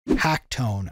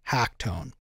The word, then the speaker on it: h4ckton3: an LMMS user named Hacktone. I think I'm pronouncing it correctly. He spells it a little bit different, but I think it's supposed to be Hacktone.